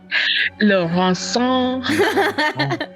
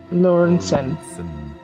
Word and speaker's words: Lauren: I don't How's the French say? Laurans. Um, I don't think you should say it like that when we meet. Yes. Lauren.